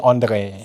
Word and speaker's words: Andre: Dia keturunan Perancis. Wah. Jadi dia sebenarnya Andre. Lagi Dia pekat sikit. Betul. Dia kena guna orang kata apa, pronunciation yang betul guys. Kena Andre. bunyi France sikit kan.